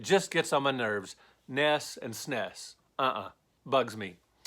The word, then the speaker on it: NES: the list number five people who call the NES the nests are the Super Nintendo the snis know I get why they do it it's just a quick convenient way to say it fewer syllables Vaness is quicker to say than the NES but it's wrong it's not the nest it's the NES or the Nintendo Entertainment System thus Ness it's not thus nest that's not what it